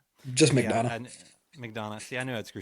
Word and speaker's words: McDonough: Just McDonald.